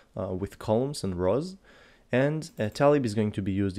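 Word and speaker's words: TA-Lib: the first one is Talib it's actually pronounced ta lib like this and you can find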